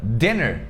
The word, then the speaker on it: dinner: Ele tem dois N's porque o som do dinner é com a vogal curta. Dinner, dinner.